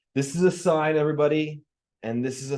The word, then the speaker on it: sine: way we write it so sign is is spelled s n e uh but when you're using it in an equation you don't write it like that you write it as Sin n and we say sign and then s of